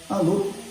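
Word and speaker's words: Allauch: Alô, não tem como esquecer. Se escreve Alauche, mas se fala alô.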